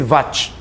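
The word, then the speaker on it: watt: wat escreve assim tá mas pronuncia-se wat Ok o símbolo é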